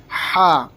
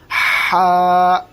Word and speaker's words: ح: کی آواز آئے گی ہا ہا. اگر ہم نے اس کو ہا پڑھا تو سمجھو غلط ہے. صحیح تلفظ اس کا ہے ہا.